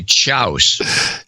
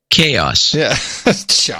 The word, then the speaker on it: chaos: example as a kid I would say chouse instead of chaos just pronounce it spelled